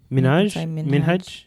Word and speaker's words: Minhaj: I don't know if you heard about the Hasan Minhaj, is that how you say it? Yeah. Minhaj.